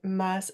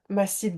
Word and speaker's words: Mas: Aujourd'hui, j'ai eu l'envie de vous présenter Mass, c'est Mass ou Ma ? Comment est-ce que tu prononces ton nom ? On prononce Mass effectivement, on prononce le S.